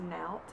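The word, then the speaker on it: Naot: This particular brand name, I believe it's pronounced Naut. It's spelled N-A-O-T.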